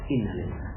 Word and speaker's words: innalillah: Padahal innalillah itu dibaca sama dengan alhamdulillah, sama, jiwanya sama dengan alhamdulillah. Anak meninggal dunia, alhamdulillah. Cuma bacanya innalillah.